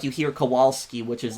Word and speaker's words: Kowalski: It wouldn't be Kowalski, it'd be Kowalski, because W in Polish is V, but people would have